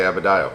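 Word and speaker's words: Adebayo: was thinking how am i going to say abedio yeah yeah did i say it right you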